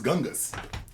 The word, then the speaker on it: Shyngggys: It was spelled Shyngggys. This motherfucker said his name was Gungus.